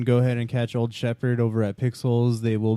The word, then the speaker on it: Shepherd: Old Shepherd Band at Old Shepherd Band, and Shepherd is spelled like the dog, SHEPHERD. Not Shep Hard.